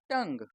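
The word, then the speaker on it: tongue: जी यू ई इसमें भी यू और ई साइलेंट है तो ये क्या बन गया रोग टी ओ एन जी यू ई टंग जी यू आई एल टी वाई यू को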